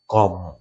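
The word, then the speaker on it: comb: আমরা বলি কম, কম। তাহলে বির উচ্চারণটা কিন্তু এখানে আসতেছে না, অর্থাৎ এমবি যদি শেষে থাকে তাহলে বিটা সাইলেন্ট হয়ে যাবে। কম, ক্লাইম, ল্যাম, এভাবে আমরা বির উচ্চারণ শেষে আর আমরা করব না।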